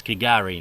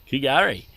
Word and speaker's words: K'gari: Kari, which a lot of people do pronounce Gari. The K may be silent.